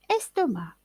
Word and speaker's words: estomac: le prononce pas blond estomac se termine par ac qui ne se prononcent pas estomacs blot se termine par